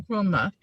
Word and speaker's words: Nkrumah: No, it's Kwame Nkrumah.